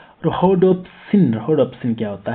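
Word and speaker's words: rhodopsin: रोबोट्सिन उसके उसके सॉरी उसकी प्रोनाउंसिएशन गलत हो गई, मैं उसका नेक्स्ट पढ़ रहा था। रोडोप्सिन।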